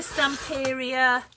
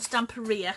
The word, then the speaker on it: Stamperia: other two as well this is the some area or stump area because I keep saying it wrong stamp area imagine um I've used